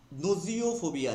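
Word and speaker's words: gnosiophobia: ঠিক আছে, fear of knowledge, জ্ঞানে ভয়, আমি মোটেই জ্ঞান নেব না, ঠিক আছে, সেটাকে কি বলা হয় নোজিওফোবিয়া, জি এর প্রোনাউন্সিয়েশন হয় না, নোজিওফোবিয়া।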